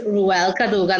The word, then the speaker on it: Rhuelle Cadogan: So everyone, this is Rhuelle Cadogan.